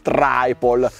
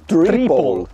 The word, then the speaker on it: Triple: Prima lezione: se dopo la vocale ci sono due consonanti , la 'i' si pronuncia 'i', quindi queste vengono chiamate Speed Triple. Triplicare. Ascolta, Triple. A proposito, anche nella gamma